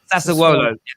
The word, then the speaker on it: Sassuolo: How do I pronounce it right? Is it Sassuolo? Sassuolo.